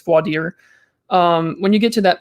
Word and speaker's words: voir dire: In Texas, they call it voir dire, but I know it's voir dire.